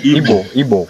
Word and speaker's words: Igbo: Igbo. Yeah. So the G is silent, right? No, G is not silent. In Igbo alphabet, we have G.